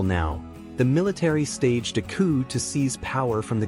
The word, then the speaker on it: coup: give it a try pronounced as coup usually mispronounced as Coupe or C the word coup is borrowed from French and means a sudden often violent overthrow or accomplishment the p is silent let's take an example now